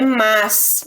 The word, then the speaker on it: mas: outra coisa a gente a palavra correta nesse sentido que de oposição de idéias é mas não tem o i não apesar de que e fala a gente pronuncia mais com i e mas na hora de escrever se o seu objetivo é passar a ideia de oposição de idéias aí é esse mas aqui ó sem eu ir que ele é